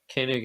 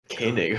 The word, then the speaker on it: Koenig: Who's Yeah, Koenig has. Oh, see, now I'm saying it wrong. Koenig.